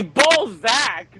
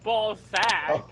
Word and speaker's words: Balzac: It's Balzac, not Ballsack. Well, Oh. it sounds like Ballsack, okay?